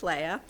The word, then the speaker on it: Leah: It looks like it's pronounced Leah, but it's Leia.